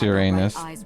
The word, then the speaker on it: Uranus: fit that profile second no it's pronounced uranus some people just change the way it's pronounced to make it sound less like your anus the timing of